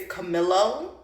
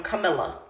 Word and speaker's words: Camilo: father also calls him Camila and I feel like he just can't be bothered to pronounce the O at the end so it's just Camila also my name is